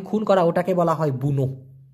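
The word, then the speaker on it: bunuh: করা ওটাকে বলা হয় বুনো বি ইউ এন ইউ এইচ উচ্চারণ হবে বুনু তা এটা আলাদা মরা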